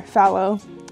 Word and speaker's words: phthalo: and then finally the phthalo blue or fallow have you pronounce it and this is their green shade and this is a color that i have a love-hate relationship with phthalo colors or follow colors how you pronounce